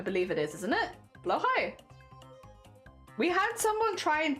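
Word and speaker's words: Blåhaj: doing the best but they said it's close to saying like blow High what blow High something like that yeah yeah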